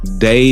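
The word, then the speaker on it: DAI: Day is spelled D-A-I.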